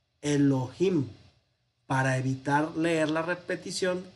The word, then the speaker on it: Elohim: a fuego pero bueno cuando el tetra grama el nombre de llave aparece en conjunción con ado nay pues no se pronuncia ado nay adonay sino que se pronuncia a donde hay en lo que a veces se vocaliza aquí hace yo vi no es para pronunciar yo vi sino para pronunciar esta palabra elohim para evitar leer la